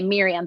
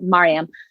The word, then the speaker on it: Mariam: wayne it's mariam um i think it's well yeah it's mariam but i guess in america sometimes they say miriam but she pronounces it maryam um and when my